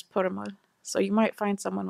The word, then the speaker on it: Purmul: And sometimes it's like, they say it's Purmul, but the Pashto pronunciation is Purmul.